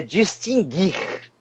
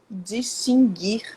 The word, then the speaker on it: distinguir: eu vou dizer mas é a forma correta é distinguir distinguir distinguir não pronunciou o tá eu juro para